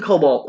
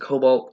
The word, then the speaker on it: kobold: The same kobold escaped twice. I know I pronounce it cobalt. I'm supposed to pronounce it kobold.